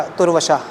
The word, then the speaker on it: तुर्वशा: अंग्रेजी में स्पेलिंग है TURVASHA, त में आधा उ वशा, तुर्वशा, पुरु, अनु, द्रुह्यु।